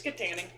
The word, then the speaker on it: Kittanning: It's Kittanning.